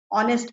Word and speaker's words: honest: में होते हैं ना, जैसे हम ऑनेस्ट बोलते हैं, लेकिन स्पेलिंग जो होती है उसकी क्या होती है, एच से स्टार्ट होती है ना, HONEST। तो इसमें एच लेटर जो होता है वो साइलेंट होता है, लेकिन हिंदी में कोई